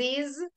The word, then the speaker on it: Liz's: Exactamente, sí, en pronunciación se le agrega un sonido i, porque si no es imposible decir la Z y la S las dos juntas.